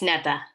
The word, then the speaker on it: Neta: Did I pronounce that correctly, or is it Neta? Neta. It's Neta.